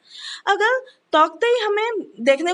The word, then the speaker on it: Tauktae: This is the cyclone is the ताउक्तई. अब ताउक्तई कहाँ से लिया गया? This is pronounced the ताउती also और हम इसे ताउती के नाम से भी जानते हैं.